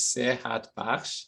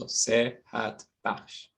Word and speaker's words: Sehat Bakhsh: And then my last name is Sehat Bakhsh, so Sehat Bakhsh.